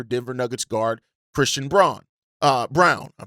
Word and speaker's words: Braun: Brown, that's how you pronounce it, because Denver needs to clear cap space to re-sign Peyton Watson.